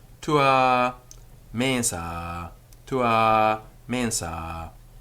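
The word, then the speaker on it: mensā: a mensa to a mensa the ah of the ablative of the first extension is always long tua mensa in some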